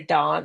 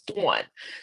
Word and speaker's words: Dawn: Um I always say my name's Dawn because here in Florida, the Southerners, they say Dawn. I'm like, "No, it's Dawn."